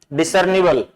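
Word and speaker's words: discernible: Next word is डिसर्निबल। डिसर्निबल, अब इसमें आप डालेंगे डिसर्निबल, जो रे की ध्वनि है वो यहाँ नहीं दिख रही है, इसका मतलब रे यहाँ साइलेंट है।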